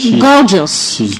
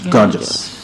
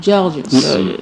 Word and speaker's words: gorgeous: Gorgeous. Gorgeous. La prononciation un peu sais comment je prononce ça George ?